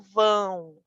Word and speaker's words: vão: Atenção à pronúncia do nasal, certo? Eu digo vão, vão, com o nasal.